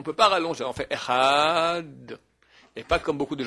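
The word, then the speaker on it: אחד: La vraie prononciation, c'est un peu comme le TH anglais. Un D. Il faudrait faire Echad. Les gens ne savent pas très bien faire, alors ils font Echaz.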